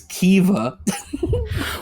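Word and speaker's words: Caoimhe: hard mode um no this is Kiva What the freaking where's the V there is none the MH makes a v sound bull crap dude oh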